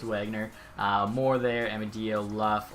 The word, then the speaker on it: Wagner: Wagner people were saying it's not like the German pronunciation it's just Wagner more their Emma do